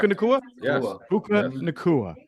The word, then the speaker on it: Puka Nacua: Did I pronounce that correctly, everyone? Correct. Puka Nacua?